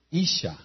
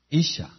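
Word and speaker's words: אשה: Y mujer es Isha, Isha. I-S-H-A. Y se escribe con una Hei.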